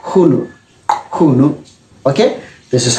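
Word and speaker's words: Qunu: Okay, so this is pronounced as Hunu. You have to front click the tongue like this first and then pronounce it Hunu.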